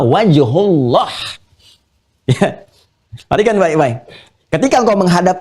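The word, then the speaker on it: وجه الله: Lihat cara bacanya. Perhatikan betul cara baca. Lihat harakatnya. Bukan fatamma wajhallah, tapi fatamma wajhullah.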